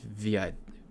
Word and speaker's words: Wits: Okay, WITS is a university in South Africa. Okay, pronounced VITS? Or VITS? Gotcha.